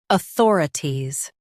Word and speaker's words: authorities: authorities Now, read the syllables shown on the screen naturally. aw thor i ties, authorities Stress thor and keep i ties light.